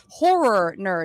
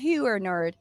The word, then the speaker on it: Horror Nerd: it's called horror nerd I always have to pronounce it very horror nerd because it sounds like I'm saying her nerd but it's a a